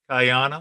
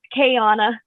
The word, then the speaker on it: Kyana: top right here uh is kyana is that right hello it's actually pronounced kayanna so sorry sorry it's